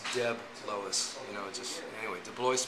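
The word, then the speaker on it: DeBlois: It's Debb Lois, you know, just Anyway, Deloce Village.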